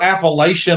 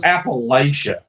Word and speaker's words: Appalachia: he goes, "Yeah, we're Appalachian American. That's how we identify." I was like, "What? Nobody from here calls it Appalachia. It's Appalachia. It's the CH."